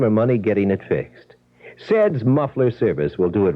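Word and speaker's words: Ced's: Saids muffler service 3940 West Grand and they're just east of Crawford. Seds.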